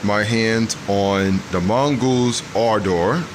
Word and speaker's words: Ardor: knows i got my hands on the mongoose our door our door that's how i was told that it's pronounced from mongoose personnel that's how they pronounce